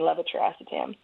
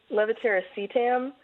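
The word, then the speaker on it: levetiracetam: call it Keppra but I like saying levitaracetam nobody can pronounce that right well there is another camp that caused leviteracetam and I just I think the other version just rolls off my tongue a little bit sweeter so I'm biased in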